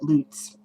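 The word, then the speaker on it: Luts: goes by rio um she pronounced it loots and a lot of people because of her pronounces it that way and that's probably maybe how it should be said but i say let's every single time can't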